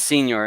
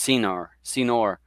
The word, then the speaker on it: Senor: Donnie Senior, it's not Senior, it's Senor, because I think I said Senior before and he said it was incorrect.